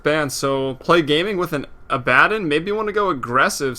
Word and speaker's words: Abaddon: As I have to start saying Abaddon, because that's actually how it's pronounced.